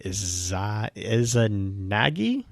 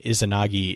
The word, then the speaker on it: Izanagi: Is Izanami and Izanagi, I think is how you pronounce that. The Japanese Izanagi, I think, Izanagi.